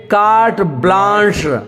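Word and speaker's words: carte blanche: ए के आगे 2 बिंदी है, इसका मतलब ए आ हो जाता है, और बड़ा सा लकीर जो लास्ट में देखिए, बड़ा सा जो लकीर दिख रहा है वो स्टार सा होता है, तो क्या पढ़ेंगे कार्ट ब्लांच।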